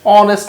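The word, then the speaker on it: honest: আমি যদি বলি Jamal is dash অনেস্ট ম্যান। অনেস্ট একটু ভালোভাবে লক্ষ্য করলে বোঝা যাবে, H plus O এন ইএস টি, অনেস্ট। এইচ এর উচ্চারণটা হচ্ছে না, সেক্ষেত্রে অনেস্ট আমরা কি লিখবো, এন।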